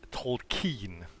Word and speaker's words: Tolkien: But also in English, the pronunciation is Tolkien.